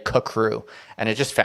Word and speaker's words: CCRU: and at one point they say that it's pronounced kacrew crew that's how they write it out phonetically at one point i've never heard anyone say kakru and it just sounds a little weird so